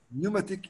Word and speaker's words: pneumatic: Pneumatic envelopes. Pneumatic يعني هوائي. كلمة البي لا تلفظ.